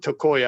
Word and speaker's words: Tokaj: They pronounce it Tokoya.